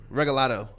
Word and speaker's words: Regalado: probably going to say it wrong try it regalato nice you got it I got it right